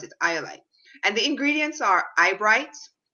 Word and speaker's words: Eye-Olite: So that's how I spelled it, Eye-Olite.